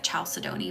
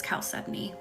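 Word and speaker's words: chalcedony: e d o n y it looks like chaldon but it's caly is how you say it blue caly a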